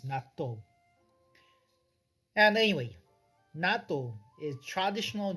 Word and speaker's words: natto: In our pronunciation is natto.